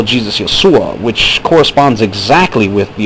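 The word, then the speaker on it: ܝܫܘܥ: Arabic-speaking Christians call Jesus Yeshua, which corresponds exactly with the aforementioned Yeshua, as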